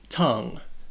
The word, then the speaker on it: tongue: Now, the pronunciation of this word is all sorts of crazy. First off, it only has one syllable. And that O sounds like a U, tongue. And it would rhyme with words like sung or rung or tongue.